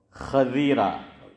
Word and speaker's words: خضیرہ: علماء بھی بہت سے۔ یہ صحیح لفظ ہے خا پر زبر اور ضاد کے نیچے زیر، اور لوگ اس کو